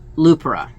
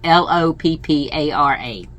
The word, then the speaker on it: Loopara: For some reason, when I first saw it, I thought Lupara. I don't know the pronunciation. I don't know how to pronounce that particular. It's Loppara.